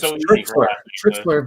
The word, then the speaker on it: Tritschler: nice about that because yeah my name is trixler bk trixler right trixler okay i'm trying i'm